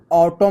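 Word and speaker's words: autumn: यहां पर कैसे है ये ऑटोम न लिखा है यहां पर देखते होंगे ना तो इसमें न जो है साइलेंट रहता है।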